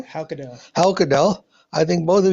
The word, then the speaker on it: Haukedal: How do you pronounce his name? Haukedal.